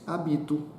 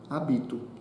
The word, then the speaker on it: hábito: seria eu já disse hábito hábito o som mais foto celio bin alto o hábito então viu como é fácil ler essas palavras sem o h você vai pronunciar o mesmo som toda a diferença vamos